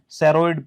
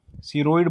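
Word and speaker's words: ceroid: सेरोइड pigments. क्या? सीरोइड बोल दो, सेरोइड बोल दो, जिसको जैसे ठीक लग रहा है, स्पेलिंग पता होनी चाहिए।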